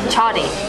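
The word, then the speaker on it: mchadi: So it's like a bean soup, and then we have chadi. For some reason they didn't pronounce the M, which is how it's spelled, but it is like a deep fried cornbread.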